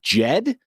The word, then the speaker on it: DJED: how I feel about DJ Ed uh Jed spelled with a d at the beginning is kind of like